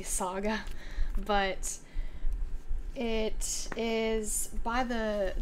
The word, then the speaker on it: Saga: this comic called saga I said Sega when I was there and the guy corrected me is a saga but it is by